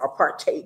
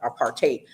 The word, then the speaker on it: apartheid: fighting against the apartheid, or apartheid is how it's pronounced on the continent in Africa, apartheid. But most of us commonly use apartheid.